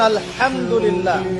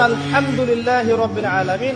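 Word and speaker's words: الحمد لله: আপনি পড়ছেন আলহামদুলিল্লাহ শব্দটা কি আলহামদুলিল্লাহ এই হা এর মাখরাজ কোথায় কন্ঠনালীর মাঝখান থেকে এখান থেকে আপনি উচ্চারণ করছেন আলহামদুলিল্লাহি রাব্বিল আলামিন অর্থ দাড়াচ্ছে সমস্ত প্রশংসা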